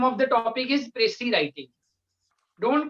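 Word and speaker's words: précis: The name of the topic is Pressy writing. Don't call it Pressy writing. In Punjabi it is Pressy, but in English it is Pressy. Pressy writing. Don't call it Pressy's writing. S will be silent here.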